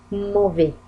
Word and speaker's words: mauvais: mauvais S لم تنطق، لي دي لم تنطق.